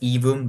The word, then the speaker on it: Aevum: came from Latin and in Latin A and E together is pronounced e so the the pronunciation